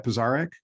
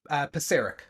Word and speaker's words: Pisarek: Pisarek? Very close. Pisarek.